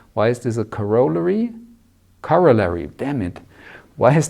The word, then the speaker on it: corollary: who once corrected me I used to say coroller but this seems to be the the UK the English pronunciation so it should rather be corollary so we have a corollary what does that